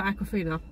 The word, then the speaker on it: Awkwafina: So his best friend Katie is played by Awkwafina. Oh, is that who she is? Yeah. Okay. And that is how it's pronounced as far as I'm aware.